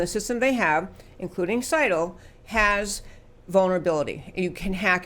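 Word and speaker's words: Scytl: Seidel.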